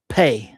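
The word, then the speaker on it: Phat: To punctuate certain parts of the meditation and ritual, we'll be using the mantra Pe, which means crack or boom. And this is its Tibetan pronunciation.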